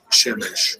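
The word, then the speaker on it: שמש: Shemesh. Shemesh. Shemesh. There you go. So now we got the pronunciation.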